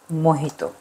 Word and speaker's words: mojito: তারপরে আমি দিয়ে দিব স্প্রাইট, অনেকে মোহিতোকে মজিত উচ্চারণ করেন, তো এখানে একটা ব্যাপার হলো যে স্প্যানিশ ভাষায় এইচ লিখলেও সেটা উচ্চারণ হয়, আর জে লিখলেও সেটা উচ্চারণ হয় এইচ। তো সেই ক্ষেত্রে আমরা আসল উচ্চারণটা হলো মোহিত।